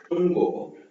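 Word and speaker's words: 中国: அடுத்து Chungo, Chungo, Chungo, Chungo. இது மாதிரிதான். ZH வந்தது அப்படின்னா நாம என்ன பண்ணுவோம், DCH or J டங்கு நல்லா மடிச்சு ப்ரொனவுன்ஸ் பண்ணணும் ZH வரும்போது. ஓகேவா?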